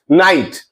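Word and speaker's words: night: Daughter, या फिर फाइट, नाइट, लाइट। Means ऐसे वर्ड्स जीएच तभी साइलेंट होगा अगर वह वॉवेल के बाद आ रहा है किसी वर्ड में, अगर जीएच वॉवेल के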